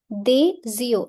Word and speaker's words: des yeux: Des yeux, S will overlap Y. Des yeux.